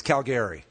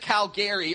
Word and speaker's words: Calgary: You got to pronounce it right. It's Calgary. Come on. The only people who pronounce it Calgary are those dirty Albertans.